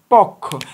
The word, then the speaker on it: পক্ষ: ক পক্ষ খারে খা আমরা লেখার সময় প যুক্ত খ লিখি পক্ষ তবে উচ্চারণের সময় আমরা বলি পক্ষ তাহলে ক টাও ঠিক